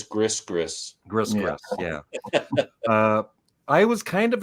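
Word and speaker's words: Gris-Gris: How do you say that? Gree. Or Steve Marriott, he says Gris.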